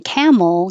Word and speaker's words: camel: For number 10, camel, you should not round your lips at the end because they're coming back for the L. Camel. And the tongue holds in the L position for a little longer duration so you can hear the L.